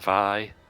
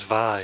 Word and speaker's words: Vi: And Vi. I thought her name was V. Yeah. So... And then I heard her theme song. Here comes Vi.